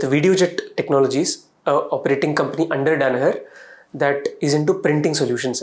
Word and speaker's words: Danaher: I think, and You have worked in Danaher. yes, sir. Am I pronouncing it correctly?